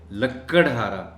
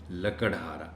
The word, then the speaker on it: لکڑہارا: ہیں، بولتے ہیں، اور اس کو لکڑہارا پڑھ جاتے ہیں، یعنی کاف پر شد کے ساتھ، جو بالکل غلط ہے۔ لفظ ہے لکڑہارا، لکڑہارا۔ ایک لکڑہارا جنگل میں